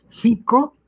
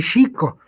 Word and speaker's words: Xico: Sí, por ejemplo, el pueblo que está cerca de Jalapa, Jico y Xico. Y tienen mucho litigio este tema de la pronunciación de la X.